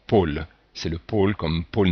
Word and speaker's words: pôle: on dit bien mot ici on a un accent circonflexe donc qui fait que ce ha est fermé pôle c'est le pôle comme